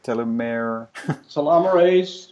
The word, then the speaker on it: telomerase: Or what I'm saying is, besides telomeres, or what was the other way to pronounce it? Telomerase.